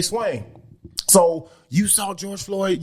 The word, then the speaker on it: Swain: is my name that is right so say swain so you saw george floyd you see what's